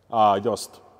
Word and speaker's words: Jost: Just. Just. Yes. Just fifth wheel. And where are they made at? I think Netherlands. Yeah, we call them Jost or Jost.